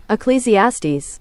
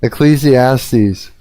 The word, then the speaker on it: Ecclesiastes: You're uh, helping me pronounce it. Ecclesiastes. Ecclesiastes.